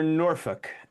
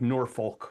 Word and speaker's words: Norfolk: 1577 in Suffukk or Norfolk. And that's how it's said, right? You don't say the LK like we do in the states like Norfolk, right?